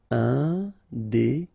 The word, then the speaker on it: indépendant: Final T not pronounced. Indépendant.